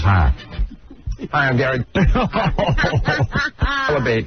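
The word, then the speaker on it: Dell'Abate: My mother still says Delabate. My father still says Delabate. Oh, really? Why do you say Delabate? Because, A, that's the proper pronunciation, and when we were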